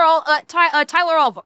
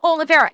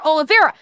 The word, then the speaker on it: Oliveira: Oliveira. Yes, thank you, Knee. Yeah, I mispronounced his last name. Tyler Oliveira.